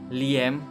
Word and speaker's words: Liam: yang tahu itu adalah Liem Liem atau Liam ya kalau bahasa Indonesianya bacanya Liam tapi kalau misalnya bahasa Inggris si biasanya Liam Liam neson neson i betul